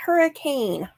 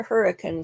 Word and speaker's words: Hurricane: so we have a town near Zion National Park called hurricane not hurricane the locals pronounce a hurricane so you can always